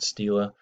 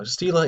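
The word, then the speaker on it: stele: called a steel ax I've heard this word pronounced a few different ways steel Estella steel ii all by people who seem to know what they were talking about I'm just going to stick with the word Stila those sake of consistency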